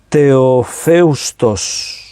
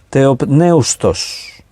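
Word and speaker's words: θεόπνευστος: La palabra griega es teofeustos. La pronunciación vendría a ser teopneustos, más exactamente. Teopneustos, porque tiene la P ahí, está en medio.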